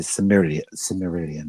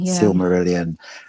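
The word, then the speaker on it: Silmarillion: Jackson's trying to get the rights to the Sumeri Similian. I can never pronounce the name. Sylmerelion.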